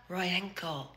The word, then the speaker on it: Rojenko: So instead of thinking J-E-N-K, think of jerk, like Rodchenko. Like what, a Rodchenko? Except change the R to an N. That way, I don't have to explain that the Y is silent and it's actually Royenko.